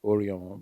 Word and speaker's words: Osiomo: Okay, so essentially, the River Osiomo, certain people say that actually is Oriomo, but the English probably could not pronounce it, so they named it Osiomo.